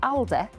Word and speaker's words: Aldi: The press switch store has changed its name to Alde to reflect the manunian pronunciation of its name.